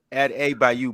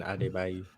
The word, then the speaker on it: Adebayo: Add A by you, by the way. Adebayo. He's saying Adebayo's name, but he's saying Adebayo. But I guess that's how you pronounce it.